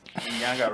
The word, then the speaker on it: Nyanga: I know your real name will be Alex Nyanga, right? Am I pronouncing it? yeah, it's correct. Yeah.